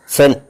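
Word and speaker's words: zehn: ആദ്യം ഉണ്ടാകും ഉദാഹരണമായിട്ട് 10 എന്നുള്ളതിന് സെഡ് ഇ എൻ സെൻ എന്നാണ് പറയുന്നത് എക്സെറ്റിന്റെ ഉച്ചാരണം സ്ട്രാസെ എന്നൊരു വാക്കുണ്ട് എസ് ടി ആർ എച്ച്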